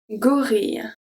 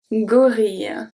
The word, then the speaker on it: gorille: So if G is followed by A, O, or U, it's going to stay a hard G. We have un gâteau, un gâteau, gâteau, un gorille, un gorille.